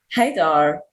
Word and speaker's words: Hadar: really do it how do how do you spell it hey dar h-a-d-a-r oh that's pretty simple and that's a